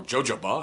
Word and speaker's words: jojoba: tree oil argan oil jojoba or jojoba however you want to pronounce it oil Brazilian nut